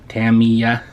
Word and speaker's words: Tamiya: of Tammy's newer kits demia Tamia that's how you say it Tammy uh by the way don't listen to anybody that tells you otherwise okay this kid is